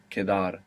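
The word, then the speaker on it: quedar: e d a r Kadar and Q in Spanish is always a k sound you must resist any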